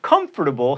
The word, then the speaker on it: comfortable: and especially not expecially comfortable has four syllables and it's larvae or